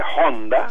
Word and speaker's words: Honda: Allá se dice Honda, porque ellos pronuncian la H.